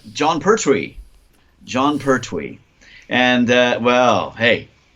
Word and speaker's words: Pertwee: Yes, Pertwee.